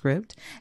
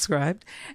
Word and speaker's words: Scribd: This is a short form book now out on Scribd. If you didn't know, it's pronounced Scribd and not Scribed.